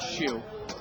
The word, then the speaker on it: Hsu: Michael D Shu and I had a buddy who spelled his name Hsu so I know that's how it's pronounced Shu love the show the